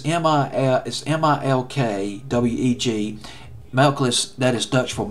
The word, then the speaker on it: Melkweg: I think it's pronounced that in Dutch. It's Melkles. It's Melkweg.